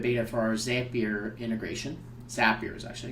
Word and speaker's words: Zapier: Zapier is actually how you say it, and allows you to send this data into 1,000 different apps.